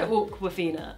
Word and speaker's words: Awkwafina: I said Awkwafina.